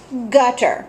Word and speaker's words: gutter: G or soft G gutter where does that one belong hard G or soft G good I hope you said hard G so I'm going to